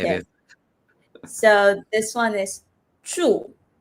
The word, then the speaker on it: 住: a bit difficult I don't know how to pronounce it Emily teach me how do you say this so this one is true true okay so this true what does it mean